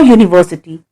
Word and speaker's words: university: Here the word begins with the consonant sound year, as in the word U.